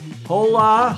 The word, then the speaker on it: hola: Hola. Hola. Carrie K. Larry. Larry Kennedy says, "Hola from the pi die." Hola. The financial hola. The H is not pronounced in Spanish as you know.